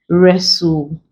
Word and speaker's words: wrestle: have words with WR where the W is silent leaving just the r to produce the ER